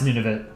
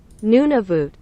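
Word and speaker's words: Nunavut: how do you pronounce nunit is it nunit how do you pronounce it let's find out let's go to Google Translate nunav voot nunav voot I can tell you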